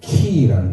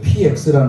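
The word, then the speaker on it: Χ: PX가 아니에요. PX는 군대에 우리 젊은 군인들이 가서 매점에서 산 그걸 PX라고, 이걸 PX로 읽으면 안 돼요. 헬라어입니다. 이 X는 키예요, 키.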